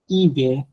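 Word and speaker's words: hiver: সাউন্ডটা হয় না এইচ মিউটেড হয়ে যায় লাইক ওম অহ ইবে ইবে হচ্ছে উইন্টার অহ তো ঘড়ির টাইম মানে কয়টা বাজে ঘন্টা ওম হচ্ছে ম্যান তো এখানে আপনার এইচটা মিউটেড থাকে নর্মালি ওম অহ ইবে এই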